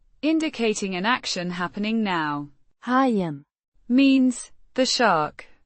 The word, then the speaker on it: hajen: Hyen means the shark pronounced hyen with the o sounding like the